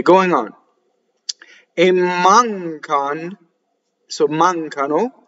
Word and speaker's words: mancano: Mancano is the real word, and they chop off the O for the poetry. The word A is what is known as a strong monosyllable, and it slightly doubles the next word if it starts with a consonant.